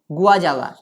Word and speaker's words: guajava: Silent होगा, PSIDIUM, लेकिन हम बोलेंगे साइडियम, पी साइलेंट होगा, साइडियम गुआजावा, GUAJAVA, गुआजावा, साइडियम गुआजावा इज the scientific name of गुआवा।